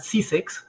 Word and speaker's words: SIICEX: Ahí yo les recomiendo siempre consultar el portal SISEX, que se escribe SIICEX, que son siglas de Sistema Integrado de Información de Comercio Exterior.